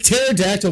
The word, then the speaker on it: pterodactyl: Like pterodactyl makes sense that P is silent.